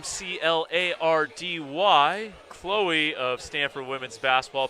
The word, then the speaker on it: Clardy: of two Stanford luminaries with the last name c l a r d y Chloe of Stanford women's basketball pronounces it Clardy you two might have to